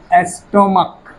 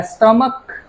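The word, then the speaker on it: stomach: लेकिन स्टमक इस शब्द में इस नाउन में ये सी एच का उच्चारण क आ रहा है।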